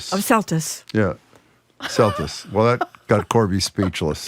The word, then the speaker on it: Celtuce: Celtuce. Well, that got Corby speechless. Yeah, it sounds like justice.